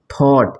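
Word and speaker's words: thought: वो साइलेंट हो जाता है जैसे यहां पर थॉट इसको क्या बनेंगे थॉट है ये साइलेंट हो गया है और इसको पढ़े हम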